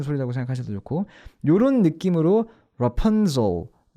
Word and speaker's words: Rapunzel: 발음이 오히려 가까운 거고, S에다 진동을 더하면 Z다라고 생각하시면 되는데, 그래서 Rapunzel이 아니라 Rapunzel, 이런 모기 소리라고 생각하셔도 좋고, 아니면 왜 그리 우리 핸드폰 진동 오는 소리라고 생각하셔도 좋고, 요런 느낌으로 Rapunzel, 발음 연습해 보시면 될 것 같아요.